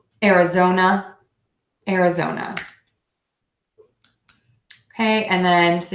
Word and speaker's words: Arizona: zone and then the short up era zona Arizona Arizona Arizona okay and then so you can see